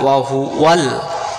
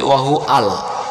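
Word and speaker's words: وهو: এই শব্দটা আমরা ভুল করে বলে ফেলি, আমরা বলি ওয়াহু আল, বলি না? তাহলে ওয়া অক্ষরটা কমে যাবে, ওয়া অক্ষরটা বাদ দিয়ে হামজাতে জবর হয়ে যাবে। এখানে ওয়া লাম জবর, ওয়াল ওয়া লাম জবর ওয়াল, ওয়াল ওয়াহু ওয়াল।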